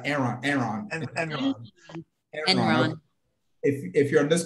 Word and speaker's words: Enron: Is it Elon? Am I saying it right? Enron.